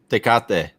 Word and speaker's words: Tecate: Tecate. How do you say it, Luis? Tecate.